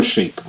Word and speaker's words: shape: Rectangle shape. Sh. A. Shape. Shape. E is silent. E makes the A say A and not A.